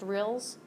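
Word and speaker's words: rille: It's pronounced rills.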